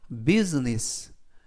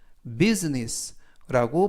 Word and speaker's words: business: 이때 유의하실 점은 S 발음이 스가 아니라 z, 그리고 S 뒤에 있는 알파벳 I는 묵음이라서 이번 단어에서는 발음이 되지 않습니다. 그래서 비즈니스가 아니라 business, business라고 발음하시면 좋겠고요.